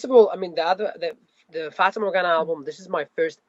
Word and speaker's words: Fata Morgana: your first album, how do you pronounce it? Fata Morgana? Fata Morgana.